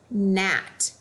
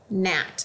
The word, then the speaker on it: gnat: whoop at the beginning G is silent when followed by n such as in the word gnat gnat like a little flying